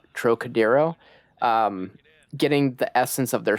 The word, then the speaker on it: Trocadero: Trying to capture that, I believe the band is pronounced Trocadero.